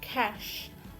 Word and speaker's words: cache: word is this one it should be cash cash don't be confused with the